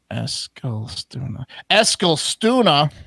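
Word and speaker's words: Eskilstuna: penitentiary in i mean eskel stuna that's actually how you pronounce it sweden uh yeah remember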